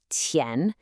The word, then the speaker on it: 前: That first syllable, tian, has another one of those initials that can be tricky for us, the Q. This is not a K sound, not at all. It's more like the ch sound in cheap, but